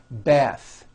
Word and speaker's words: bath: it's voiced smooth bathe the word bath is a noun with an unvoiced th beth but when you change